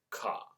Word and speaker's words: カ: Ka. To help you remember this character and its pronunciation, think about an old pirate's cutlass.